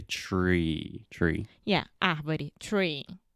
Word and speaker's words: Treehouse: alexia initially said three three house which is like a Portuguese pronunciation you want to say tree tree yeah I'm ready tree